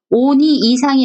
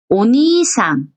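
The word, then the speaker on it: おにいさん: 오니 이상이 아니고 오니상, 오니상. 역시 이것도 책을 보지 않고 그 대화를 나눌 때 오니상 그러면은요. 뒤에 장음이 있구나. 니를 길게 발음하는구나.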